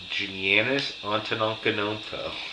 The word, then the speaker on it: Giannis Antetokounmpo: Was it Giannis Antetokounmpo, Perfect pronunciation of his name.